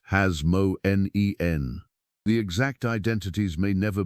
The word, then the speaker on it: Hasmonean: ruling high priests of the Hasmonean dynasty, pronounced Hasmonen.